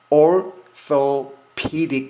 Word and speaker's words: orthopedic: 이거를 orthopedic surgery, orthopedic surgery, orthopedic surgery, orthopedic surgeon, orthopedic surgeon 이렇게 하는 겁니다. 왜 orthopedic 이렇게 할까요? 여기 th 발음은 당연히 번데기 발음 알고 계시죠? 혀를 넣었다가 빼면 됩니다. the.